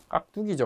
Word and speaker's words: 깍두기: 근데 여기 두는 발음상 된 소리 됐죠? 그래서 깍은 원래 된 소리라서 된 소리로 표기하죠. 근데 뚜는 발음상 된 소리라서 된 소리 표기를 하지 않아요.